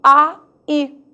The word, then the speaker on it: aí: Aí que se pronuncia o vocábulo A-I. 2 sílabas, sabia? Porque o A, você já sabe, não perde para ninguém. E o I acentuado? Alguma dúvida da força dele? Os acentos agudo e o